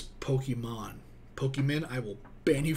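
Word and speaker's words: Pokémon: Pokemon was a thing, say it right, it's Pokemon.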